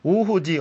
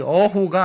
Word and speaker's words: 오호: 그래서 우리가 오호라 할 때 오호는 이때는 발음을 정확히 써야 됩니다. 이거 오호지 어호가 아닙니다. 그러나 어조사로 쓰일 땐 어언간 할 때 이렇게 씁니다.